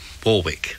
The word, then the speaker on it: Warwick: York and then straight into the Warwick Hotel Warwick this is the way it's pronounced I understand and then all sorts of